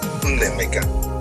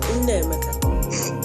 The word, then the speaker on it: Nnaemeka: So, and since you have two vowels, A and E, A is pronounced as A, E is pronounced as A. It's Nnaemeka. Nnaemeka. But you are stretching the A. Don't stretch it. Oh, Nnaemeka. Yeah, Nnaemeka.